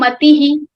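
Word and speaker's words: मतिः: We have word mati. After adding visarga, it will become matihi.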